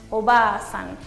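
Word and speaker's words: おばあさん: Acá es muy importante escribir esa A, porque si no decimos oba-san, que significa tía, ya es otra cosa. Acá es oba-san. Es importante escribirlo y pronunciarlo. Entonces, como ven, al lado de la letra ba va a estar una A, indicando que este sonido se alarga.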